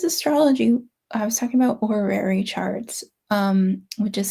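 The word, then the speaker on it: horary: I was talking about orary charts um which is spelled h o r a h o r a r y orary which are like looking at the timing of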